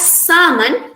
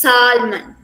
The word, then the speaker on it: salmon: salmon but here it can be pronounced in two different ways as salmon and as salman based on the american or british accent whichever you choose to